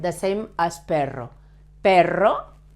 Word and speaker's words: perro: And notice that perro, dog, has a double R, but this word, pero, that means but, pero has a soft sound. It's the same, but with a soft sound, the same as perro.